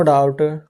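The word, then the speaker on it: doubt: लिखेंगे ही हैज नो डाउट डी ओ यू बी टी ये फिर से डाउट होता है ये भी हमारा साइलेंट रहता है ठीक है अगला है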